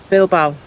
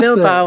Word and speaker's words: Bilbao: The next vlog you'll see will be our trip on the ferry across to Spain from Portsmouth to Bilbao. No. Bilbao. That's it. Bilbao. That's it. That's the one.